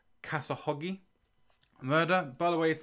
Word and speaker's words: Khashoggi: I believe that's the correct pronunciation. Khashoggi.